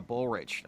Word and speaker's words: Bullrich: Finally, let's talk about your board of directors and the recent appointment of Clara Bullrich. Am I pronouncing her last name Yeah, correctly?